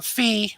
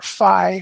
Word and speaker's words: Fi: Since you never played the original, one of the Fee or Phi, which however you want to pronounce it, basically the sword companion, who's like